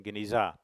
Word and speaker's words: genizah: place now what is a ganesha or cebu pronunciation genizah it means storeroom in jewish tradition one cannot